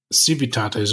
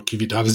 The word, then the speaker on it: civitates: It revolves around conflict because the game begins with civitates or civitates, depending on if you use Latin pronunciation or not, that have basically control of the entire map of the game.